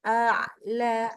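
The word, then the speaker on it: أعلى: Ilal mala'il a'la. A dulu, baru ain.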